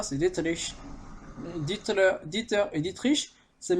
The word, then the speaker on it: Dietrich: Et excusez-moi d'ailleurs pour la prononciation, c'est. Des fois j'ai dit Mateschitz, c'est Mateschitz. Et c'est pas Dieter, c'est Dietrich.